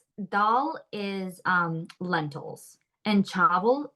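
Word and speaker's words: chawal: is um lentils and chavel it's spelled c h a w l but it's pronounced like chavel like with a V okay so it's do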